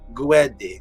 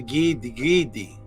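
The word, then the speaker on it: Gede: sometimes just spelled G-E-D-E, but I spell like this for the pronunciation for those who want to pronounce it. It's pronounced how you see it spelled, Gwede, Gwede. Some people pronounce it the Gidi.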